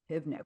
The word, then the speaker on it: Pivnik: Pivnik. What a great friggin' name. Rhymes with picnic basket, but it's not. It's a V, people.